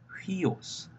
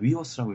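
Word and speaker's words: υἱός: 이런 식으로 발음이 되지만, 여기에 만약 거꾸로 찍혔으면 흐 발음이 H 발음이 붙어서 휘오스, 이게 위 발음이 난다 그랬잖아요. 휘오스 됩니다. 휘오스가 되는데, 이걸 만약에 위오스라고 읽으면 쟤는 기본이 안 돼 있네, 이런 식으로 생각할 수도 있기 때문에 신경 쓰셔야 돼요.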